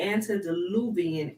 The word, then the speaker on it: antediluvian: the seed of the angels falling in the antediluvian era sprung from their union with the daughters